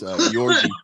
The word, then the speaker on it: Georgi: I've been calling him Georgie the whole time, but it's Yorgi.